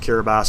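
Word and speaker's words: Kiribati: or I think it's spelled kabati but it's pronounced kabas apparently within 25 years that Island's supposed to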